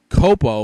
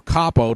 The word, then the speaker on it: COPO: baseline parts out of the 69 Copo or Capo, depending on how you pronounce Central Office Production Order, kit.